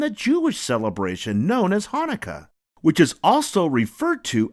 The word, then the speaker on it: Hanukkah: in the word but no matter how you spell it it's always pronounced the same way Hanukkah say it with me